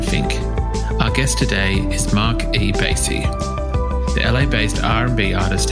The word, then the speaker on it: Marc E. Bassy: Please welcome to This Song is Yours, Mark E. Basy.